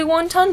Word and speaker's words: wonton: of wonton are you eating the once it's pronounced actually wonton because I feel like my grandma always said wunton but I don't know if that's just the